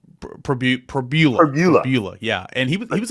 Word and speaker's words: Pribula: You say Pribula. Pribula.